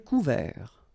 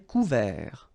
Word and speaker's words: couvert: Un ciel couvert, final T not pronounced. Un ciel couvert.